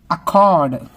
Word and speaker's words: accord: accord, accord, odd, ORD, odd rhyming words.